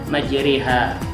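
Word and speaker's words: مجراها: Misalnya majroha dibaca majriha, Kemudian apalagi?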